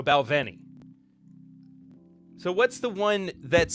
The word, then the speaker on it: Balvenie: Is this one pronounced with a W or a V? I can't remember. I've heard it both ways, and I'm not just saying that because it's a reference to one of my favorite shows of all time. If you get it. What up? But it is a V, so Balvenie.